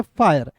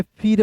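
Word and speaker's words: fire: लिखा हुआ रहता है एफ आई आर इ तो हम लोग बहुत लोग जो है फीरे पढ़ लेता है।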